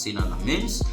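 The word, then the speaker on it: Lammens: And you see that another outstanding performance came from Sina Lamens, rather, that is how it is pronounced, Sina Lamens.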